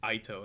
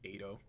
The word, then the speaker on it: Ito: It's Ito, and I was calling him Ito.